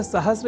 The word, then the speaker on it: सहस्र: पर हम जब अर्ध सकार के बाद र इस अक्षर का ध्यान रख लें तो सहस्त्र इस शब्द के प्रयोग में हम अपने आप को अच्छी स्थिति में पाएंगे अर्थात उसका अशुद्ध उच्चारण नहीं करेंगे। तो यह शब्द सहस्त्र इस रूप में ही सर्वथा शुद्ध है। इस संस्कार को और दृढ़